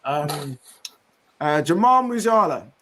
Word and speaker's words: Jamal Musiala: Jamal Musiala.